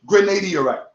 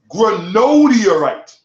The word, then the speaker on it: granodiorite: correctly first of all the stone is not called Grenada Iraq he calls it been a deer right throughout that entire piece okay it's called granodiorite okay see how it self